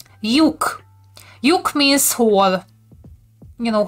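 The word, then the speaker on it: lyuk: Tricky Ellipsis, which is pronounced as y, like in, I'm gonna go back for you. So like in yogurt, but it's written like this. Yuk.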